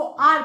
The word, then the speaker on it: hour: जब हम स्पेलिंग में भले एच है, लेकिन जब हम इनको प्रोनाउंस करेंगे तो एच को साइलेंट कर देंगे, इसको आर पढ़ेंगे, हावर नहीं पढ़ेंगे।